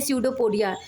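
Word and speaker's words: pseudopodia: हम कहते हैं सडोपोडिया क्योंकि दोस्तों यहां पे सडो में पी साइलेंट होता है लेकिन इसको पढ़ते हैं सडो एस से पढ़ना चाहिए लेकिन पी साइलेंट होने के कारण इसको हम पढ़ते हैं सडोपोडिया सडो मींस होता है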